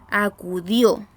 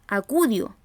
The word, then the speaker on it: acudió: momento de pronunciarla tenemos la palabra acudió cuya carga de voz se recibe en la última sílaba acudió nosotros no decimos acudió ni decimos acudido decimos acudió cierto cargamos